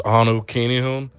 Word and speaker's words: Anukinihun: Oh yeah, you can always find me on my Instagram, which is Anu Kinihun. It's spelled ANUKINIHUN.